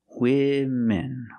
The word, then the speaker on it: women: use the plural version women pronunciation use a short I sound like this is for both syllables women women women love makeup